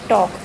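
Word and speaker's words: talk: है ना, TAL के टॉक, हम सीधे TAK बोल रहे हैं टॉक। Hair L is silent, यहाँ पर जो L है वो साइलेंट है।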